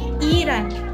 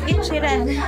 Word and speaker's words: Ichiran: taxi driver kanina ha iran ramen Iran ramen Iran ramen so that's how you pronounce it how they pronounce it but I told him it's ichiran see you Hi